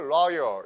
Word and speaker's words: royal: 그래서 여기서 로열이 아니고 로열 이렇게 해서 R 사운드 되면 뭐죠?